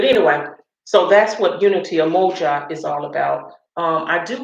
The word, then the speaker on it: Umoja: But today is Umoji, if I say it right, Umoja.